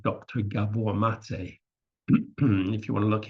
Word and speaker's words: Maté: is pron is spelled m a t like mate in English but pronounced mate so mate went be Beyond traditional treatments and